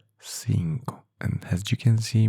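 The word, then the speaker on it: cinco: Uh, what is the pronunciation of five in Spanish? Sinko. Five. Sinko.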